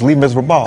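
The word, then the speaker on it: Les Misérables: That's how they pronounce it in the language in French. It's Les Miserables.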